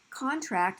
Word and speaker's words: contract: But if I want that physical thing, I actually want it, then it's going to be the noun form, which is going to be on the first syllable.